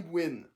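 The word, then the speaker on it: Huynh: Johnny Wynn. Ça s'écrit pas W-I-N, mais H-U-Y-N-H, vu qu'il y a des origines vietnamiennes, comme j'ai dit.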